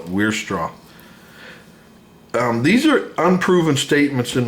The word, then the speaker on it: Weierstrass: Now, some might pronounce the W more like a V, Weierstrass M Test, but I'm going to call it Weierstrass.